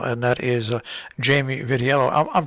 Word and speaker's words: Vitiello: uh town council and that is uh jamie vitiello i'm pronouncing your name correctly right am i jamie